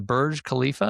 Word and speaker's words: Burj Khalifa: worked on the, may say it wrong, the Burj Khalifa, is that how that's pronounced?